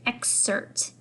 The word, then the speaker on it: excerpt: That word right here is excerpt. You don't really pronounce the P.